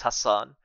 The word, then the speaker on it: Hassan: people uh like say my name so it's Hassan and it's something that I get like used